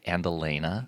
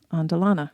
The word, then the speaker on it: Andelana: I know a lot of people say andelena, which is how I always said it until I heard you say it. Yeah, but there's no e at the end, right?